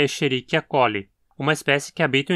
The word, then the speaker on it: Escherichia: Como na pronúncia original a sequência SCH soa como um X, o mais adequado seria pronunciar como um X aqui também. Então, Escherichia.